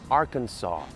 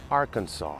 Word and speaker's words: Arkansas: O Arkansas aqui também não pronuncia o S. Arkansas, Arkansas.